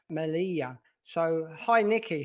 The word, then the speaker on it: Melilla: it correctly well i believe it's it's it's pronounced malia malia two elves the pronouncers are why so malia